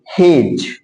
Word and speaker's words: hedge: उसी तरह से देखो HEDGE है, तो जी के पहले हमारा डी आया, और जब डी जी के पहले आ जाता है तो डी का उच्चारण नहीं होता, इसको पढ़ेंगे हेज।